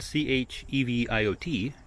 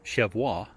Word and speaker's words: Cheviot: the name is spelled c-h-e-v-i-o-t which i initially thought was chevois i was informed it's cheviot named after a landmark